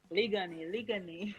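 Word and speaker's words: Liguanea: I pronounce it properly. The account. Ligani.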